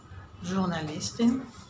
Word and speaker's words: Journalistin: Die Journalistin, the same thing, the J is not pronounced as a J, it's pronounced like the French pronounce, is a je, Journalistin.